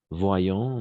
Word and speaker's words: voyons: professionnelles voyons voyons d'accord ici oi latine on va prononcer comme un nouveau roi d'accord comme un roi donc voyons voyons d'accord voyons les compétences professionnelles d'après